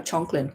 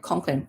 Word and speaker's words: Conklin: Okay, Conklin, is that how you pronounce it? Conklin or Chonklin? Conklin.